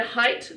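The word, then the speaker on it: Hite: And Height beer, is that how it's said? Yep. Yeah. Yeah, HIT. Yeah, that's right.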